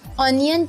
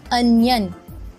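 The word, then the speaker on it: onion: लेकिन अक्सर लोग इसकी प्रोनाउंसिएशन मिस्टेक में इसे ऑनियन कहते हैं। करेक्ट प्रोनाउंसिएशन है अनियन। अनियन।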